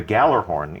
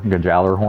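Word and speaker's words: Gjallarhorn: tell you that a rocket launcher called the Gallarhorn is coming back.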